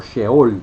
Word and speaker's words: Sheol: Entonces, en el Antiguo Testamento tenemos la palabra Seol o Sheol, que es la forma correcta que se debe pronunciar, y se encuentra 65 veces a lo largo del Antiguo Testamento.